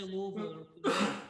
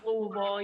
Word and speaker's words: Louisville: Mike, say it like you have a mouthful of marbles. I went to broadcasting school. They forced it into me. They're like, you got to say Louisville. Louisville.